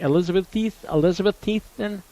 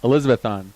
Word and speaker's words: Elizabethton: Yeah, master's degree, a couple of years of studying, but he's also going to be the voice of the Elizabethan however you pronounce it. Elizabethton.